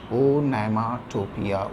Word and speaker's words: onomatopoeia: इसका सही उच्चारण है, सही स्पेलिंग है इसकी ONOMATOPOEIA. ए के स्थान पर ओ का प्रयोग होगा, ओनोमाटोपिया, ONOMATOPOEIA. 7th का उत्तर होगा डी.